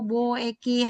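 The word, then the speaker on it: 貿易: Tsusin, Keisiki, Hewa, Sampo, Bo, Eki. Hai, Subarashi. Arigatou Arigatou gozaimasu ya. gozaimasu, Sensei. 100 juga. Minasang yang lainnya bisa ya? Ya. Bo Eki, walaupun ditulis Bo U Eki, tapi dibacanya Bo Eki.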